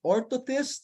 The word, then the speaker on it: orthotist: It's called orthotist. So it's spelled as ORTHOTIST, ortho, like the ortho, and then tist, TIST.